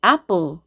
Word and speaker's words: apple: 자, 나비 발음은 강한 에 발음입니다. 한국말로 에 발음이에요. 예를 들어서 한국말로 apple 할 때 이 철자 스펠링 A가 발음 기호상 이 에 발음입니다. apple. 이거보다는 당연히 입을 더 크게 벌리죠. 이 애가 입을 더 크게 벌려야 됩니다. 입을 더 크게 벌려야 되고 세게 발음하죠. apple. 그렇다고 apple은 아니죠. 어쨌든 이 애보다는 입을 더 크게 벌리고 강한 에 발음을 내면 됩니다.